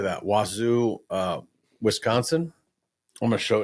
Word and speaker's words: Wausau: Wazoo, Wisconsin. I'm going to show it to you. Wausau? Wausau, Wisconsin.